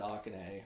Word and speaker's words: Akane: Well, they pronounce it Akane.